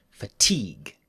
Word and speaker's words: fatigue: the pod okay now when t is between two vowels americans change it to the sound like japanese regul the change doesn't happen if the next sound is stressed though so we'll say butter butter and water water but we don't say fatigue no fatigue the ting is strong so we keep the tea when the next word